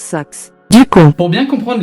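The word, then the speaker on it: Sachs: Ça se prononce Sax.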